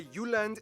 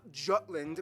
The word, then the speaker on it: Jylland: I'm going to pronounce the location names in their proper Danish context. So here we go. Denmark is made of the Uland, not Jutland peninsula that connects to Germany Jutland.